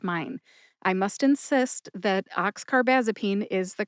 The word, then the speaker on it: oxcarbazepine: One is oxcarbasene and the other is oxarbamazipene which is altogether wrong because it's oxcarbazipene mixed with carbomazipene and those are just two different drugs altogether.